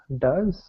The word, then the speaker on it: does: think you did so which is the different one does yes does we've got does goes foes toes and does is different thank you very much